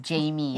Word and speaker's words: J.M3: Yes. Yeah, pronounced Jamie. So I don't even know where to start.